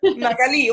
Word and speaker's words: Magali: Magali. Well, Magali has an accent on the I, if you want to Okay, say thank you.